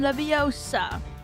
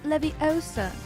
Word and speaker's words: leviosa: Wardium leviosa. Stop. Stop. Stop. You're going to take someone's eye out. And besides, you're saying it wrong. It's leviosa, not leviosa.